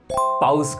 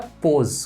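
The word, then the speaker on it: pause: हाँ, ये वर्ड बोलते हैं, क्या? पाउज कर दो। नहीं, गलत होता है। इसका सही प्रोनाउंसिएशन होता है पोज।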